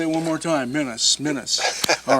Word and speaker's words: Minnis: I said it wrong saying that. It's Minnis. Minnis.